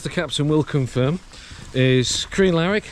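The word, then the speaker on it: Crianlarich: captain will confirm is K laric that's how you pronounce it to bridg of Ori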